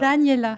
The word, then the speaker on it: Daniela: Daniela. C'est comme Daniela. Daniel et tu rajoutes là à la fin.